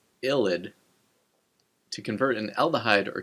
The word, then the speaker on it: ylide: The vidig reaction uses a reagent known as a phosphorane illid pronounced illid to convert an aldahhide or ketone into an alken.